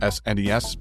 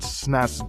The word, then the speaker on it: SNES: The Sega Genesis, Game Boy, and SNES versions dropped a year after this 8-bit Nintendo original. And yes, I said Snes, not SNS.